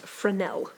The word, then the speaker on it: Fresnel: is called afrin L I know it looks like it's spelled Fresnel but it's French and it is pronounced for now it's called that because